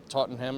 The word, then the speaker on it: Tottenham: Wouldn't it be like Tottenham or something? I don't know. Totter, teeter totter, whatever. Rough day. Take care. Apricot, it's all right. We good, man. Tottenham. Yeah, that's it. That's how you say it, dude.